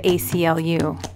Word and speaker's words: ACLU: Sometimes a name is spelled out letter by letter and takes an article like the ACLU.